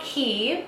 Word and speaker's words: Quay: The brand is called Key. It's called It's spelled Q U A Y.